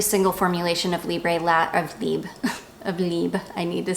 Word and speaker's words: Libre: taken French that you it's not pronounced Libra it's called it's just pronounced Lieb and I but I